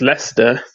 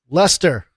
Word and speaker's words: Leicester: name of my town wrong completely it's uh pronounced Leicester Leicester North so um I actually live about five